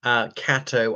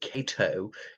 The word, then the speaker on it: Catto: Catto, I once mispronounced it Cato in my first soiree with him, who was a fixture at Oriel College for over 4 decades.